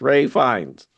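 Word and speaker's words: Ralph Fiennes: that's played by um Ralph Finus Finnis Fines. Ray Fi Ray Fines. Ray Fines. Yeah, I know it's spelled Ralph, but it's pronounced Ray.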